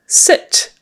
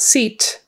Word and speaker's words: sit: um sit again with a short I not seat because seat is um the thing you sit on take your seat that is your seat sit is sit down please um are you sitting